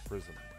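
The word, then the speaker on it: Frizzmmm: now say my name it's prism f r i z z m m m 2 Z's three M's no a no n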